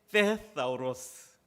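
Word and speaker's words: θησαυρός: 여러분, 보물이 헬라어로요, 제가 발음이 정확하지 않을 수도 있지만 테사우로스입니다. 여러분, 이게 그 번데기 발음이 들어가 있어서 발음하기가 어려워. 테사우로스, 사우로스. 이 액센트도 뒤에가 있기 때문에 사우로스 이렇게 되는데요.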